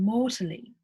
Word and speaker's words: mortally: And mortally. And an important note, a very, very important note with British accents is you definitely pronounce the T.